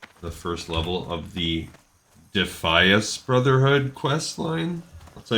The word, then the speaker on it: Defias: looters be careful so the voice over addon it agrees that we should pronounce it defias now that doesn't really